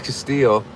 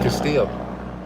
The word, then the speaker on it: Castillo: I've realized lately that you don't pronounce the L's, right? Just like Castillo.